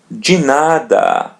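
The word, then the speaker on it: de nada: the expression you're welcome we're going to pronounce it as G the same thing as in 10 G remember now ask everything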